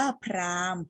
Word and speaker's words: พราหมณ์: คะ คำ ว่า Prime มี ตัว อะไร อยู่ กลาง คำ ที่ เรา ไม่ ออก เสียง ตัว ไหน เอ่ย ตัว ห หีบ ใช่ ไหม คะ เรา ไม่ ออก เสียง ห หีบ เรา ไป ออก เสียง ตัว สะกด ม ม้า เลย อ่าน ว่า พราหมณ์ นัก เรียน รู้ จาก